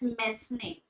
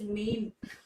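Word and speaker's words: mesne: after a long time i used to pronounce it as mess name but turns out it is not messing it is mean oh things that i've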